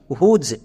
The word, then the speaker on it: whose: তাহলে কি হলো? WHOSE, হুজ। একে আমরা ভুল করেও হুস উচ্চারণ করব না।